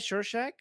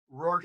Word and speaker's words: Rorschach: Shorshak? Is that how you pronounce his name? Yeah. Oh yeah. So Rorschach. yeah, Rorschach, right?